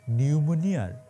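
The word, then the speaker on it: pneumonia: শেখ হাসিনার দশা এখন নিউমোনিয়ার ইংরেজি বানানটা আছে না নিউমোনিয়া ওইটার পি এর মত মানে থাইকাও নাই আর কি আমি আপনাদের একদম দায়িত্ব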